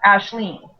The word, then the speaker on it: Aisling: and through him she meets Gort and Ashleen, which is kind of a really cool Irish name. And Yes, so I like that one. I wanted to use it because it's spelled Aisling.